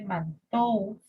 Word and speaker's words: Mantoux: Se escribe Mantoux, pero se pronuncia Mantoux.